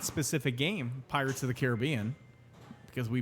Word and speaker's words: Caribbean: Now, the interesting thing with that specific game, Pirates of the Caribbean, because we pronounce that the same way, Caribbean, not Caribbean.